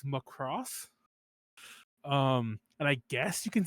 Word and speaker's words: Macross: Anyway, speaking of Macross, and by the way, I say Macross every so often. Like mispronouncing things is my thing, but we it's most notable because we do a thing.